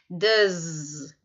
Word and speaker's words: does: preste atenção na pronúncia ele é escrito com s mas a pronúncia dele é só dizer das então o do rio